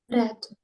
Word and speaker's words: read: Друга форма так само пишеться, але читається як Ред.